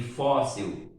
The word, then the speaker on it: fóssil: Agora veja aqui fóssil. Fóssil, o plural é fósseis. Agora você observa, fóssil não é uma palavra oxítona, é uma paroxítona. A sílaba tônica é a penúltima.